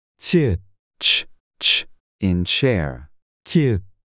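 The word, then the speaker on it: 키읔: 키읒. K. This is pronounced like a strong K in kite.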